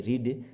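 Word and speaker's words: read: ही रेड, तो इसमें देखिए कि अब रीड की 3 फॉर्म होती है. जैसे कि मान लीजिए रीड, फर्स्ट फॉर्म की जो स्पेलिंग है वो तीनों एक जैसी होती है, रीड. लेकिन जब हम इसको यूज़ करेंगे ना, सेंटेंस बनाएंगे, तो फर्स्ट फॉर्म को बोलेंगे रीड, और सेकंड को, थर्ड को, फॉर्म को हम इसका उच्चारण करेंगे रेड.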